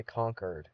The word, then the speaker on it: Concord: And anyways, I found out that this, which I always thought was Concord, is actually Conquered. Conquered. I came, I saw, I conquered. That's how they say it there.